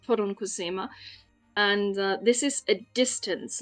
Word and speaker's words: poronkusema: This is a Finnish word that is pronounced poronkusema, and this is a distance, like kilometers or miles in Finnish, and it has Oh, to do okay.